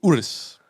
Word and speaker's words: Urus: all that i'm going i'm going to lamborghini urus that's how you pronounce it that's the lambo truck the lambo truck that's where i'm going that shit about 250.